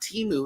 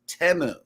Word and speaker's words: Temu: I'm like did you hear the way they're pronouncing this place it's not teu it's temu so yeah I know that was crazy listen